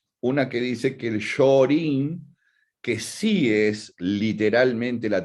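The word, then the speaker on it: Shōrin: que dice que el shorin que sí es literalmente la traducción de Shaolin HM pero no como la traducción fonética no la traducción escrita o sea es de es Shaolin pronunciado en okinawense sí no es Shaolin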